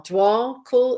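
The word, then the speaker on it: Djwhal Khul: can see his name it's DJ W L dwall Cool is how you pronounce it and he is he is a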